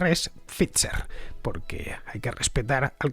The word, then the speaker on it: Pfizer: No, a ver, Pfizer es un apellido alemán y como tal pues tenemos que al menos aproximar la pronunciación al original.